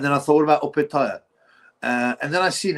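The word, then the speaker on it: Opetaia: Um and then I thought, "What about Opetaya?" Uh, and then I've seen an actual video where Opetaya is interviewed and he says it's he pronounces it opaire Jai Opetay.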